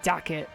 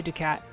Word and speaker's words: Ducat: Yeah, I don't call it Dacket, like Beckett. I say Ducat. Because that's closer to how it is spelled phonetically. It's not spelled Dacket.